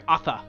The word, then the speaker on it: Athe: Sorry, Athe. I've been saying Asha this whole time. Sorry, Athe. Yes. Yeah. There we go. Yeah, you've been saying Asha. I've been playing too much Overwatch. Athe.